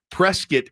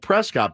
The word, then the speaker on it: Prescott: Like Prescott, Arizona is spelled Prescott, but they pronounce it Prescott.